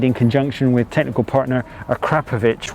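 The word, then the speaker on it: Akrapovič: conjunction with technical partner akrapovic which i am reliably told by henry catchable is the way you pronounce that so blame him if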